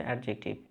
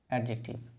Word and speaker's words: adjective: আজকে আমরা যে বিষয়টি নিয়ে আলোচনা করব সেটা হচ্ছে অ্যাডজেক্টিভ।